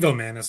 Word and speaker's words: Vilmanis: It also might might be uh How How do you say that kid's last name? Is it Is it Vilmanis? Vilmanis? I I may have said it wrong, but um and I think Vil- I think Vilmanis is right.